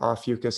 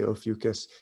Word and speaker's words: Ophiuchus: of seeing this i didn't realize how important opheucus is and some people also pronounce it ah fucus i say ophiuchus it means the serpent holder and i'm gonna